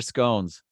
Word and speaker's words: scones: Laura's at scones or scones so it's gone I've heard it's pronounced both ways it depends where you're from so do you put